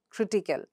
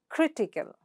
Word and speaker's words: critical: Example, magical, critical. So again, underline, ikel goes, and the ikel is underlined, and what's the syllable preceding the suffix?